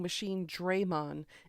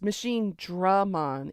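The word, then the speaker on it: Machinedramon: They were saying Machine Draymon. And it wasn't just Gigimon who said it. All of the characters in the game were mispronouncing it as Machine Draymon. It's Machine Dramon. It's Dragon. Machine Dragon. Machine Dramon.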